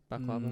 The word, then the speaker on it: baklava: Baklava.